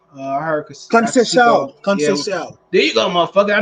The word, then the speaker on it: Conceição: Valdez versus Robertson, Casasico. I heard Casasico. Conceição. There you go, motherfucker. I need New York niggas to pronounce shit.